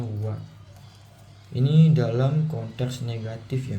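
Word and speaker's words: は: Jadi nani te wa ikemaseng, wa ini partikel makanya dibacanya wa.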